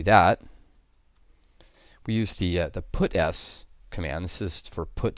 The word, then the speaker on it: puts: I should note that people do pronounce this method puts instead of put s but it's obviously constructed in analogy with put C which puts a character you also might notice